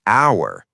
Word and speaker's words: hour: You say hour. It starts with a vowel sound, so an hour.